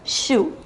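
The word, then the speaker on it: chou: is the Cucumber la conbre next one is pronounced shoe it means cabbage cabbage soup the next one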